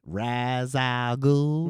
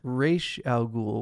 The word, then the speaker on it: Ra's al Ghul: Or you can say it like the lady, Ra's al Ghul. Ra's al Ghul. Or as we all said it in your the friend. 90s, Raish al Ghul, which I don't know Raish al why we Ghul, ever yeah.